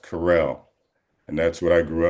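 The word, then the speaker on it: Curiel: way it's spelled was cur i e l pronounced carell.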